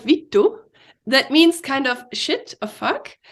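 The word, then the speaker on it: vittu: way as well can you say it again Vito okay exactly oh your pronunciation is perfect it is a v-i-t-t-u perfect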